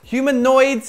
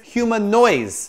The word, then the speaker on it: Humanoids: Humanoids has a D in it. All I hear is human noise.